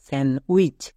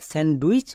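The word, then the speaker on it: sandwich: আই সি এইচ উইচ স্যান উইচ আমি জানি যে অনেকে একে স্যান ডুইচ বলে এসেছো বাট আজকের পর থেকে আর বলবা না নেক্সট এবার দেখে নেব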